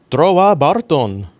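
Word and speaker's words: Trowa Barton: Trova Barton. That's how they say it in the show.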